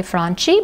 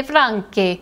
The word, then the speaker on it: Franchi: In Spain, you would say Franchi, but in Italiano, you say Franchi.